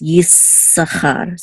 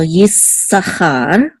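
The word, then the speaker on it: יששכר: The way it's pronounced is Yissachar. So you kind of just hold it a little bit. Okay, the s sound. So Yissachar.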